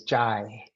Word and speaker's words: Jai: I just wanted to clarify the pronunciation of my name is Jai.